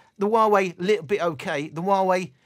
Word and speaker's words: Huawei: Huawei. Pronounced Huawei. Well-known Chinese company.